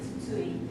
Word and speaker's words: Tsutsui: My name is Miki Tsutsui. Tsutsui is very difficult to pronounce, right? Oh, good. Tsutsui is tsunami Tsu.